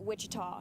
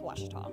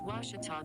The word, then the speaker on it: Ouachita: for Washita Baptist University back in Texas everybody pronounces it Wichita but really it's Ouachita Washington how would you pronounce it it's Ouachita Baptist University get it right it's Ouachita people it's